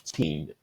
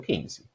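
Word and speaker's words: fifteen: No 15, eu vou colocar a força no final da palavra e vou realmente alongar essa pronúncia. 15. Esse é o 15.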